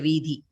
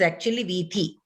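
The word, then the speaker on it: वीथि: We have to make it a habit of pronouncing it as vithi.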